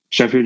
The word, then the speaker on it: Sheffield: I don't even know if I'm pronouncing it right. Yeah, that's correct. Sheffield, England.